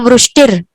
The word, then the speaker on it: वृष्टिर: यहाँ पे ऐसा र है, मतलब इस र के अंदर अ का मिश्रण नहीं किया गया है, आधा अक्षर र है। तो आपको क्या कहना है, सुर पुष्प वृष्टिर, सुर पुष्प वृष्टिर।